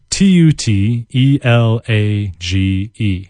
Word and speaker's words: tutelage: those lines it's spelled T UT e la g e it's phonetic tutelage tu te la GE tutelage his knowledge of Spanish